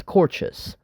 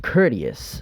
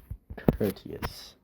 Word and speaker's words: courteous: The rest of my family also pronounces it as courtes. The entire Filipino community pronounces it as courtes. It's pronounced courteous. So, um, yeah, it's pronounced courteous.